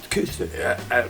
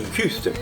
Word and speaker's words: Küster: Kister. Eu digo Kister pra facilitar, né? Mas o I, você faz boca de U e fala I. Kister.